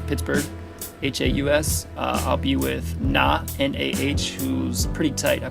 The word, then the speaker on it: Nah: I'm going to be at Hen Haas, spelled German, pronounced Pittsburgh, Haus. I'll be with Nah, N-A-H, who's pretty tight.